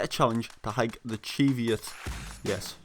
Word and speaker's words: Cheviot: Last video, we set a challenge to hike the Cheviot. Yes, Cheviot is how you actually pronounce it.